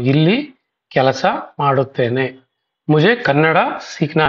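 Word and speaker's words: ಕನ್ನಡ: मुझे कन्नड़ा सीखना है, कन्नड़ नहीं है वो, आप सही तरीके से उसको प्रोनाउंसिएशन करना है आपको.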